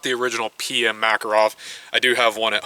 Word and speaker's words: Makarov: I don't care how you guys pronounce it, Makarov or Makarov, it really doesn't matter. In America, it's pronounced Makarov.